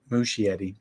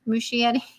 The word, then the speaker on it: Muschietti: Muschietti. Muschietti.